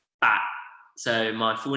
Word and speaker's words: Pak: I'm Pak, and the pronunciation in Cantonese is Bat.